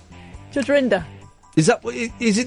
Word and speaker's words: Rinder: Judge Grinder. Judge Rinder. Is it not? No. Because he was acting a bit. Well, yeah. Well, let's call him Judge Grinder. It's pronounced Rinder, is it? Not Rinder. Rinder.